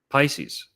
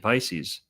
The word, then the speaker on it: Pisces: And here's probably the most compelling one for Poseidon and Neptune and Pisces. The silent P words. Pisces. Psyche. Psychedelic. Psychology. All these silent P words go back to Poseidon.